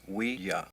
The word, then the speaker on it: Ouija: named David using a Ouija board. It's pronounced Ouija, not Ouija. It comes from the French and German words for yes. Oui and ya. Ouija. Oui and ya. Oui and ya. It's pronounced we-ya.